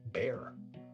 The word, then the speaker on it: Bexar: However, also according to Wikipedia, people who live in Bexar County have kind of localized the name, and they tend to pronounce it bear, almost like the animal.